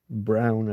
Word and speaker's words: Braun: Hence, Werner von Braun, however you want to pronounce it, Brown, I think is the more correct.